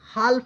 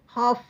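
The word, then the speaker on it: half: तो ये देखिए एल यहां पर साइलेंट है। हाल नहीं पड़ेंगे। हाफ पड़ेंगे। ओके।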